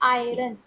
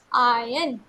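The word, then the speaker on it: iron: इसको प्रोनाउंस करेंगे तो ट will be pronounce eight आयरन बट ट इ नॉट आयरन इट इ प्रोनाउंस एट आयन यहां पर आर साइलेंट होता है ओके क्लास व्ट इ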